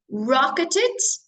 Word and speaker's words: rocketed: people working from home rocketed pronunciation you pronounce Ed as an extra syllable because the word ends in t rocketed rocket is and